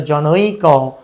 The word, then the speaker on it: জনৈক: শ্রুতি মাধুর্য রক্ষা করা তাহলে এক্ষেত্রে আমরা উচ্চারণ করি কি জনযোগ এক না এরকম না এখানে জনযোগ এক তাহলে জনৈক এরকম করে উচ্চারণ করতে হয় এবার আসি অ বা